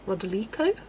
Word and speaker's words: Rodolico: I had a student whose last name was Rodolico, emphasis on the li.